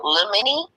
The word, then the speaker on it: limine: My question pertains to the, how do you pronounce it? The limine? Did you hear her? The motion in limine. Yeah. Yeah, limine.